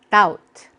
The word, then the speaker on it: doubt: 컨테인이라고 하면 들어있다, 포함하다 생각하시면 되고 doubt. B가 묵음이에요.